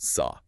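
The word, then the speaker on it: 사: Because in the Korean language, the Sino-Korean word for the number four is pronounced sa. Sa, got it. The problem is the word for death is also pronounced saw.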